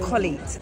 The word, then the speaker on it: Colette: My name is Colette, pronounced Colette.